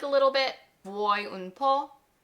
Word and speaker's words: vuoi: Now, as a native English speaker, the word vuoi is a little tricky to pronounce at first, but listen to me and repeat it. Vuoi, so ne vuoi ancora?